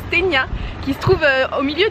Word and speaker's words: Cetinje: sas et christain g mais apparemment ça se prononce kenya qui se trouve au